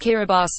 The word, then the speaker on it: Kiribati: The 33 islands of Kiribati, pronounced Kiribati, are extremely shallow.